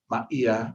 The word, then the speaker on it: Maia: Maya, which is spelled which is pronounced uh Maia, which is m a i a, Ma'ia.